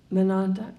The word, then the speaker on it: Monadnock: Wells writes of just one hike he took to Mount Monadnock. How do you pronounce it? Monadnock.